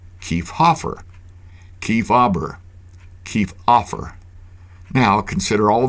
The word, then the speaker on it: Kiefhaber: Obviously, when Haber was the second syllable of a name, the H often went silent. Try it yourself. Say Kiefhaber. Kiefhaber, Kiefhaber, Kiefhaber.